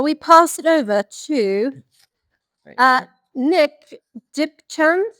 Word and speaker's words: Nick Dipchand: Shall we pass it over to Nick Dipchand? Is that right? Yeah. Yeah. Have I pronounced that right? Yeah, that's it. Yeah, that's it.